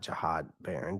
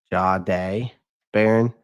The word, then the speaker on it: Jahdae Barron: Not Jahad Barron. Jahdae. Jahdae Barron. Jahdae Barron. I think I pronounced his name correctly.